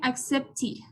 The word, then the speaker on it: accepted: Entonces les decía que cuando teníamos al final la T o la D, se iba a pronunciar como ID en vez de ED. Por ejemplo, aquí tenemos accept. Esta termina en T. Entonces el final sería accepted. No es inmediatamente que le vamos a poner accepted.